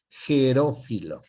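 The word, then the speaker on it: Herófilo: Así se escribe con H, Gerófilo.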